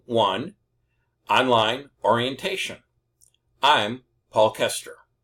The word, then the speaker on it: Koester: Hello, and welcome to Fundamentals of Programming I online orientation I'm Paul Koester my name is spelled with an O but the O is silent so it's pronounced Kester.